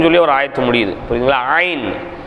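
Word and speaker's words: عين: ஒரு ஆயத்து முடியுது புரியுதுங்களா ஐன் ஐன் எப்படி வரணும் தொண்டையின் நடுப்பாகத்திலிருந்து உச்சரிப்பது தொண்டையினுடைய நடுப்பாகத்துல காத்த வெளிப்படுத்தினா ஹா தொண்டையினுடைய நடுப்பாகத்தை கொஞ்சம் அழுத்துனா ஐன் ஷா ஐன் ஐன் ஹா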